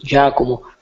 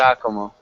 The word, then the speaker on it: Giacomo: actually Giacomo, the pronunciation. Giacomo.